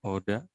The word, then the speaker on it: oder: Nah, ini juga bacanya ya, wir. Atau Oda, ini juga sama bacanya Oda. Iya, jadi R jangan dibaca ya, pede aja kalau di bahasa Jerman. R-nya jangan dibaca.